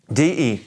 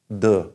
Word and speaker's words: de: and this word de de means of or from you can probably already guess it's the duh it's not de like Spanish er D like we